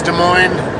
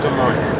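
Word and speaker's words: Des Moines: pronounce it how people from Iowa want to pronounce it. It's their city. They say it's De Moine, then I go with De Moine.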